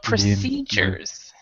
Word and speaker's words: procedures: If you just remember this, the CE is pronounced C, and it's stressed. Procedures, where the other two are not really stressed. This is actually a schwa for those of you who know phonetics.